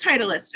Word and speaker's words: Titleist: It is Titleist.